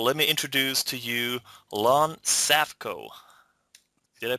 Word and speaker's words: Lon Safko: this call so let me introduce to you Lon safco did I pronounce that right yeah very good you're the